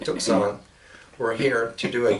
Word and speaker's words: Tucson: Also, here in San Diego, the people, the Yaquis from Tucson is the way we pronounce it, Tucson, were here to do a gig at the Museum of Man.